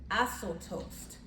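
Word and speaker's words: ἀσώτως: And so this idea of prodigal, meaning according to the Greek, it is pronounced asotos.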